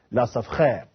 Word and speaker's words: Lesaffre: He is an independent researcher, Lesaffre. That's how you pronounce